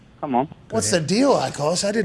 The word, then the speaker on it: Akos: But in England, I did not know we had this in London, Ecos. Am I saying your name right, by the way? Ecos? No, I think Mitt butchered that. But, yeah, it's Akos, A-K-O-S.